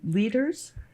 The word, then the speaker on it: Lueders: which is German and I can't help but pronouncing it like that but I know well as you people say leaders correct okay that's where we were taught as